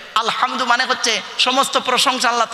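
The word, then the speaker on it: الحمد: আলহামদু গলার ভেতর থেকে এটা উচ্চারণ করবেন। আলহামদু মানে হচ্ছে সমস্ত প্রশংসা আল্লাহ তোমার।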